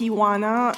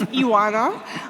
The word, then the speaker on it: Ioana: everyone my name is IWANNA if you're wondering how to pronounce my name correctly just think of an iguana and take the G out and so it's iwana um it's really good